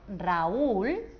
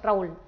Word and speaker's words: Raúl: Por ejemplo, el nombre propio Raúl, aquí la U va acentuada. Así que al pronunciarlo no haríamos Raúl, sino haríamos Raúl. Lo separaríamos y formaríamos un hiato y dos sílabas.